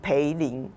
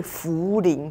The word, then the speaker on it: 涪陵: 情，就是他把这个字念成培林榨菜。培林榨菜，那其实是茯苓榨菜，所以这